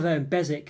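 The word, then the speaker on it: Beswick: have known that really there is bezic which is a similar same well BSW c um that's a place um not a million miles away from me and someone I know's got that surname as well so yeah I should have known it was silent W really but just one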